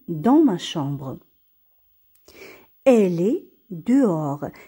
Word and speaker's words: dehors: elle est dehors. هنا le h ما كيتنطقش و s ما كيتنطقش فقط كنقراو d e de o r or dehors.